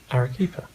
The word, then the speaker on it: Arequipa: Let's insert the right pronunciation here. Arequipa.